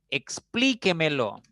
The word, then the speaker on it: explíquemelo: Por ejemplo, explíquemelo. Es una palabra de 5 sílabas. No importa si termina en vocal o en consonante, no importa. Lo importante es que la mayor fuerza recaiga en la cuarta sílaba y siempre va a llevar tilde.